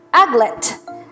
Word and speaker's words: aglet: Aglet. Ang stress po ay nasa first syllable, ha?